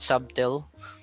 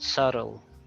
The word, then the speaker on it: subtle: so okay so little SLE silent B subtle it's not subtle but subtle whistle whistle okay with